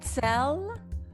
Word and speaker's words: Zell: Zell oh hello hi you pronounced that almost correctly oh oh how do you say it's it's Sam Zell No so sell a little bit yes we were just